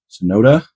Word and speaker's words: Tsunoda: 2023 Red Bull formula nurur ring and Yuki sonoda is how you say his name that was